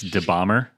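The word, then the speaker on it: dabahmer: an instagram uh it's de bomber and you can spell that for me yeah d-a-b-a-h-m-e-r d-a-b-a so it's like jeffrey dahmer close close but more bomb more bomb yeah and i i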